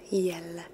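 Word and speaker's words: Jelle: going to remember that your name is pronounced yellow yellow okay so yellow said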